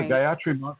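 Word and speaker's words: Gayatri: Uh so yeah, Guyatri is wonderful and and that's spelled G A Y A T R I.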